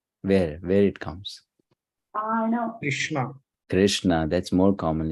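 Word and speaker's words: Kṛṣṇa: the dot below so that R is sounded as re Krishna right and then s also with the dot below so that is sound as Sha so that says Krishna all right fine yes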